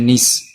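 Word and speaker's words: gneiss: Laterite and granite, जो कि जिनिस या निस, कुछ लोग इसकी सही प्रोनाउंसिएशन होती है निस, कुछ लोग जिनिस भी बोलते हैं कुछ, तो कोई दिक्कत नहीं, बस समझे।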